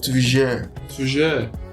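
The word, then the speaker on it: tuyère: I have to look for how it's pronounced in the dictionary, and it's apparently it has a French root. It's pronounced toujours, right?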